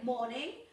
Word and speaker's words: morning: los verbos, treasure, morning, que no suene esa R, morning, accepted, major, major, disappeared,